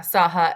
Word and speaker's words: SAHA: It's SAHA, is that the correct pronunciation? Yeah, SAHA, SAHA.